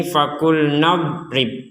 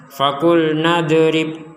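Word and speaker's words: فقلنا اضرب: di sini faqul nadrib perhatikan huruf Dod ini tidak boleh kita tidak boleh kita pantulkan jadi jangan kita membacanya faqul nadb nadrib tidak ada itu Nad Nad gak ada Tidak ada pantulan sama sekali untuk huruf do karena huruf d tidak termasuk huruf-huruf yang dipantulkan jadi sekali lagi jangan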